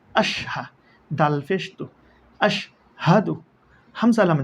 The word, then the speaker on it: أشهد: ওয়াও জবর ওয়া, হামজা শিন জবর আশ, ওয়া আশ। হা জবর হা, ওয়া আশ হা। দাল ফেশতু, ওয়া আশ হাদু।